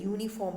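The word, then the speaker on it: uniform: का यूज़ होना चाहिए, बट जो इसका प्रोनाउंसिएशन आ रहा है ना यूनिफॉर्म का, ये YOU है।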